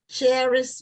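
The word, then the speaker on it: Kheris: The author's name is Cherish Rogers, but it's spelled K-H-E-R-I-S.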